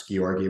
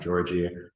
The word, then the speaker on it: Georgii: based in Dubai um that name is pronounced ski orgy with the soft G and not Georgie I'm originally from Russia